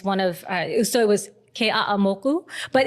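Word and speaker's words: Keʻeaumoku: of, so it was Ke'a'amoku, but it's not that bad, but it's like every syllable has to be pronounced. Even like you can't say Ke'amoku, it's Ke'a'amoku.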